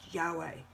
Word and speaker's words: Yahweh: Below is the math for the numerical value of YHWH, pronounced Yahweh, and written in Hebrew as that.